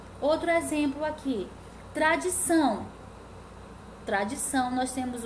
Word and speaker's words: tradição: Tradição, números de sílabas, trissílaba. Sílaba tônica, tradição. O são é a sílaba tônica, então ela é oxítona, tá? Porque é a última sílaba.